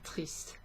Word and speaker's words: tristes: So there's an S at the end of that, but it just sounds the same as if I was saying un film triste, deux films tristes, okay?